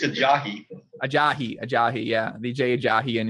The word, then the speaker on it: Ajayi: Ajayi. How do you say his name? I think it's Ajayi. Ajayi, yeah.